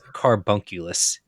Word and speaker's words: carbunculus: It's carbunculus. Oh. It's like homunculus because everything in Latin ends with homunculus, it seems like.